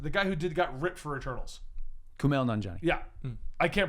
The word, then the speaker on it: Kumail Nanjiani: I think his name is Kamal Nanjiani, the guy who got ripped for Eternals. Kumail Nanjiani. Yeah. I can't pronounce anything, even English, so no, that's not.